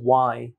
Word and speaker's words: why: আমরা এটাকে mostly হোয়াই বলি, বাট আমি মোস্টলি শুনি যেটা সেটা হচ্ছে ওয়াই।